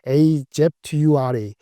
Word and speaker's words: Azure: 근데 클라우드 데이터 센터, 걔네는 상표명을 AZURE, Azure 발음하는데 Azure의 성장률이 무려 35%가 됐어요.